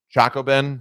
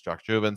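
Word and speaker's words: Chacchoben: and by the way up until today I've been mispronouncing it I called it choco Ben it's not correct it's Chuck juven so now I learned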